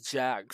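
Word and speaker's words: Jak: Now that's Jack spelled as J-A-K, Jack, not J-C-K, but J-A-K.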